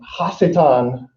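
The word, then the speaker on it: השטן: in the bible and hasetan is the actual hebrew pronunciation and it means adversary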